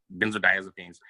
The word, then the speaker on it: benzodiazepines: Benzodiazepines.